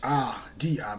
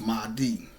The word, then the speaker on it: Mahdi: I think it's Mahidi, but it's pronounced Mahdi.